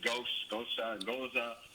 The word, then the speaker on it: Gose: And people pronounce it Goza. You can say it however you want.